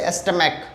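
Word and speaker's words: stomach: CH के लिए हम लोग वहाँ पे क बोलते हैं, जैसे एस्टमैक, मोनार्क, ठीक है।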